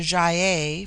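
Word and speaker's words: Gy-ei: It forms itself into ja for the plural but the g becomes soft in the plural like j y- ei.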